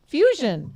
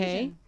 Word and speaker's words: Fuxion: It's Fuxion. Fusion. Because in the Spanish language, the X is an S. Okay. Fusion.